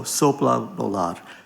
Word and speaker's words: sopla volar: And it's pronounced, you run the sopla and the al together, so sopla volar.